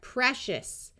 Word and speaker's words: precious: CI before a Latin suffix says sh. So this whole thing is going to be pronounced shus. So we have precious, vicious, gracious, spacious.